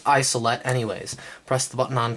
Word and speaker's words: Isolette: isolette the first model you can tell because it's spelled with a J it's pronounced isolette anyways press the button